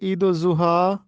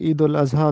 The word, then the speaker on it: عید الاضحیٰ: درست تلفظ ہے مثبت۔ ایک اور لفظ ہے جو دونوں طرح سے مستعمل ہے، وہ ہے عید الضحیٰ اور عید الاضحیٰ، یہ دونوں طرح سے مستعمل ہے۔ شمس الرحمن فاروقی کے مطابق عید الاضحیٰ درست ہے۔ درست تلفظ ہے جبلت،